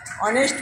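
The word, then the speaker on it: honest: এন ই এস টি অনেস্ট ম্যান এখন এই এইচ এর উচ্চারণে কিন্তু আমরা এইচ করছি না আমরা অ করছি এন অনেস্ট তাই এন বসলো এন অনেস্ট ম্যান আবার দেখো আই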